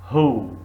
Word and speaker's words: who: scientist very good see who who H silent very good sorry W silent who we say who not wo who but we say here